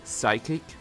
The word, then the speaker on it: psychic: Sorry, Psychic? I know that you don't pronounce with P.